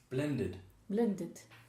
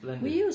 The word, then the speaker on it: blended: Everything that's in D, extra syllable. Blended. Sometimes we say chili, other days we use blending. You say? Chili. Do you mean chilled? Chill, yeah. Chilled. Oh, there, chill, yes. So blended. Or chili, or chill. No, listen. Blended. Chilled. Blended, how many syllables? Two. Chilled, how many? One.